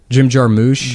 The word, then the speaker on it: Jarmusch: I don't think anyone knows how to pronounce his name. Jim Jarmusch.